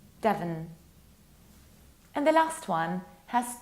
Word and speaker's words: Devon: It's Devon, nearly like devil. You need to reduce the ending. Devon.